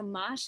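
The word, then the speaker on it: mâche: So mosh is spelled M-A-C-H-E. And I don't claim to speak German. I'm pretty confident they say it a little differently in Germany.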